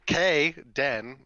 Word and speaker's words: Caden: not that's a tendon how do you say caden you just do k den okay hi bae i